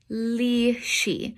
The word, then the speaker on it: lisci: Lisci. Whenever you got an SCI or SCE, the SC sounds like a sh.